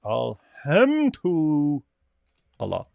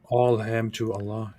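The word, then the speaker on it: الحمد لله: it's Arabic right yes Alam to Allah that is correct all ham to Allah yeah uh canot read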